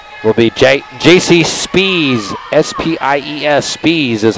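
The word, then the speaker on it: Spies: two checking in will be jc spees s-p-i-e-s speeds is how it's pronounced in fact the whole fredericksburg roster had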